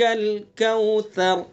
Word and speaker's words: الکوثر: لیے دھیان سے اعطیناک الکوثر، کوثر، را کو نرمی سے، اس کو سا کو نرمی سے پڑھنا ہے، زبان کی نوک ثناء الیہ کا کنارہ، اور را کو پر کرنا ہے، ٹھیک ہے؟